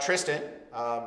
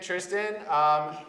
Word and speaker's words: Tristan: Our first guest is, of course, Tristan. That is how you say it, right? Tristan? Yes, that's how you say my name. Excellent. Tristan. Tristan? Tristan. If you're French, you could say it as Tristan.